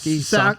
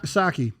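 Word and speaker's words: Psaki: say your last name saki saki like sake bomb yeah the p is silent okay sushi yeah sucky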